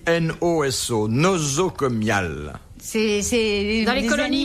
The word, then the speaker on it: nosocomial: Noso. Nozo. Ça vient de No, nauséabond. nozo quoi? Nozoco? Non, ça s'écrit N-O-S-O, nosocomial.